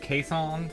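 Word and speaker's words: Keeshond: of like keys que es hound but it's pronounced caisson for whatever goofy weird reason they are they're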